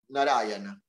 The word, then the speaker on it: Narayana: Narayana. Four syllables.